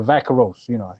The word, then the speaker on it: Vaqueros: They're traveling to San Antonio to face the Vaqueros. Or the Vaqueros. If you can't roll your R.